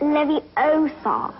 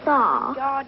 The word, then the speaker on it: Leviosa: someone's eye out besides you're saying it wrong it's Levy Oar not lar you do it then